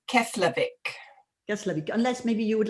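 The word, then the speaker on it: Keflavík: and this i cannot help okay can you pronounce the name of the airport slowly she's asking it's keslavik yes unless maybe you would like to type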